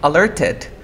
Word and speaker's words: alerted: Entonces no te preocupes, aprende la primera, que es la T después de la R y viene un sonido de vocal, no pronuncio la T.